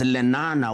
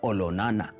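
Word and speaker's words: Olonana: today his younger brother now much more famously known as lenana was actually olona to give it the correct maasai pronunciation he was a great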